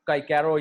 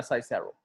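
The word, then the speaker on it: Cicero: Horace, Virgil और काइकेरो या साइसेरो, ये दोनों इसकी प्रोनाउंसिएशन है, ठीक है। काइकेरो और साइसेरो, ये दोनों प्रोनाउंसिएशन है इसकी।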